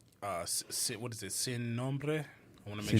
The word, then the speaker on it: Sin Nombre: Sin Nombre. I want to Sin Nombre? make sure I'm saying it right. I had to roll that R.